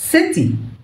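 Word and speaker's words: city: انت لو سمعتها سيتي اه بردك صحيح تمام سيتي دي بننطقها نطق بريتش نطق بريطانيا لكن في امريكا بيقولوا سيتي تمام بينطقوا التي دي شويه كده تمام لو جت بين صوتين متحركين.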